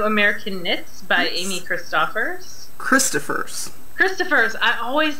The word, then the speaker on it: Christoffers: Christoffers.